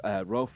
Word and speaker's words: Rolfe: name is David Rolfe Ralph is spelled like Rolf Rolf but with an e on the end this week sees the